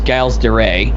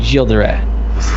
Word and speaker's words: Gilles de Rais: Like I remember in the horrible N64 version, they had Gilles de Rais, and most people know him as Giles de Rais, but he's I pronounce him Gilles de Rais, and he was kind of a dick.